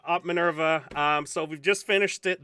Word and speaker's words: Minerva: How do you pronounce this op? Minerva. What? Minerva?